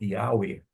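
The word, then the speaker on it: Yahweh: Algumas pessoas vão pronunciar o nome de Deus como Yaer.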